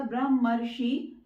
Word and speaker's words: ब्रह्मर्षि: तो अगर इसका प्रोनाउंसिएशन करेंगे पूरे का, ब्रह्मर्षि, तो अर की आवाज आ रही है, तो यहां पर आ और री को मिलाकर के साउंड बनेगी अर।